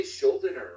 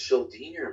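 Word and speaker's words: Schuldiner: Because I used to say Schildiner, right? I said Schildiner. It's like, no, it's Schildiner, man.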